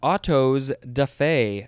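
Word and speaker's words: autos-da-fé: picture yeah from the car next we have otto's defey i think we had a similar one yeah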